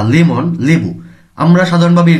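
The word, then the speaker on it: 레몬: ল উচ্চারণ করে থাকে কোন একটি নামের শুরুতে রিউল আসলে ল উচ্চারণ করে লেমন লেবু হানবন একবার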